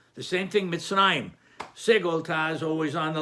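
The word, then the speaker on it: מצרים: Resh in order to teach you that you pronounce it Mitzrayim, not Mitzrayim.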